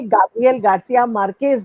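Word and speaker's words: Gabriel García Márquez: इस वजह से नहीं, ये गाब्रिएल गार्सिया मार्केज़ जो है, ये सही उच्चारण स्पेनिश की तरफ से है।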